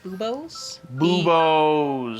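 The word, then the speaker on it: buboes: the bubbling okay and i believe it's pronounced boobos yep yes they're commonly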